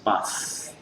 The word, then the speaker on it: bath: Jadi diperbandingkan antara pengucapan ini dengan ini saya. Bath, voiceless bath.